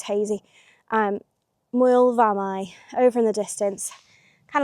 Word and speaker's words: Moel Famau: So it's uh spelled m o e l, Moel, Famau, f a m a u, I do believe. Uh so the f is pronounced as a as a v, Moel Famau.